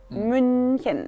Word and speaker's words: München: Y lo mismo, entonces, por ejemplo, si quieren decir München, Múnich, es muy difícil porque también tiene CH, ¿no? Entonces sería, primero pueden decir mu y luego con esta U forman la boca y dicen I, München.